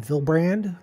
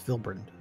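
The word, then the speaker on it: Vylbrand: the way to villeburn i always called it vilbrand but it's phil burned depends where you put the emphasis on the uh correct syllable it's a loud that's a label ah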